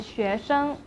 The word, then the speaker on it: 学生: You can say 我是学生 Remember, the 生 in 学生 will be pronounced as 生 in the neutral tone.